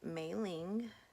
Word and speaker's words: Mei-Ling: So she gave me the name Mei Ling, which means pretty flower in English, but it's supposed to be spelled MEI-LING and not is pronounced, however, just go with it. It's Mei-Ling.